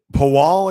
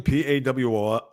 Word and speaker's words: Pawol: Jen Pawal, I guess you pronounce her name, Pawol.